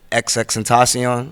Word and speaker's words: XXXTentacion: And around that time, one of my roommates, he introduced me to XXXTentacion. Mm-hmm. That's how you pronounce this?